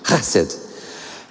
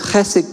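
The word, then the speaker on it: חסד: And that's my best Hebrew pronunciation, chesed.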